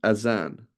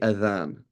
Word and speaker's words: azan: And the muezzin, spelled like this, would call the azan, right? And not the adhan, right? It is azan in English, right?